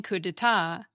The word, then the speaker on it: coup d'état: The same goes for the silent P and silent T in coup d'etat, and the silent D and silent X in Grand Prix.